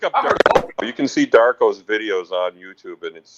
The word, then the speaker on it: DVRKO: You can see Darko's videos on YouTube, and his name is spelled DVRKO, but he spells, he says it Darko.